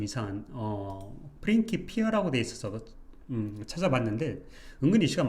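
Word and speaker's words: Principia: 복수형태로 바꾸면 a가 되니까 이게 고대 라틴어에서는 페인트 피어라고 발음이 됐대요 이렇게 그러다가 시간이 지나서 이제 프렌치피아라고 발음이 되다가 또 페인키피어라고 발음을 하기도 하고 현대에서는 대부분 프린스피어라고 발음을 한대요 좀 재밌었던 것 같아요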